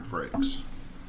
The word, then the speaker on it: Frakes: but it's pronounced frakes it's like saying flakes with an accent yeah or rakes with an f in front or if you're kevin